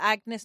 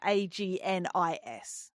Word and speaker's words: Agnes: But Agnes, not like the name, but Agnis.